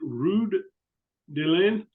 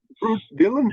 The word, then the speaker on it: Ruud Dielen: Is it Ruud Dielen? Did I say it right? Yes, Okay, yes, all right. Ruud Dielen, And yes.